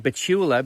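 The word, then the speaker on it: Betula: bachelor paper riffraff now i'm saying petula because i believe that's how it ought to be pronounced some people say bachelor i was taught in school when i was studying spanish that the stress should go on the penultimate syllable bachela let's argue about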